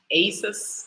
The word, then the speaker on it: Aesus: How do I pronounce that? Asus, like Jesus.